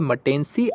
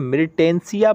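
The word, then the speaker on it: Myrtaceae: आप इसे क्या पढ़ते हैं वो आपके ऊपर है, लेकिन इसे पढ़ा जाता है मटेंसी। आप इसे मिर्टेंसिया पढ़ेंगे तो ज़्यादा अच्छे से वर्ड मीनिंग क्लियर रहेगी। ठीक है, वैसे इसका जो प्रोनाउंसिएशन है वो मटेंसी है।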